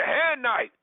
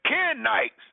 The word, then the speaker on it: Kenites: Jebusites, the Perizzites, the Hanites, or not the Hanites. I said that wrong. 1 second, because I need to say it correctly. The Kenites, the Hittites, the Perizzites, the Amorites, the Canaanites, the Jebusites, the Gershites.